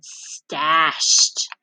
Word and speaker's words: stashed: Wished and stashed. So wished makes what sound? T, t. Good. And stashed. What sound do you hear at the end of stashed? T, t.